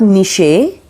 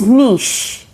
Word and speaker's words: niche: often means frequently often number 17 is niche it is not niche it's niche okay number 18 is the